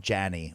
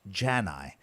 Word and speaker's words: Jani: There's nothing more upsetting than someone saying something like Jason Yanney or Jason Ya-nee, when the proper pronunciation of my last name is Jani.